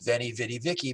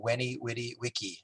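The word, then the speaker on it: veni vidi vici: 70 years ago uh it's mispronounced as vennie vidi vicky but it said in latin when he witty wiki i came i saw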